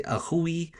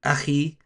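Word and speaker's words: أخي: Okay, some Arabs mispronounce, for example, like when it comes with ya al-mutakallim, and they'll say akhui, it's actually akhi.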